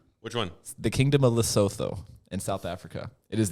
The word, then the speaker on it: Lesotho: It's like, man, what's your How do you spell it? Litho. Lesotho, Lesotho.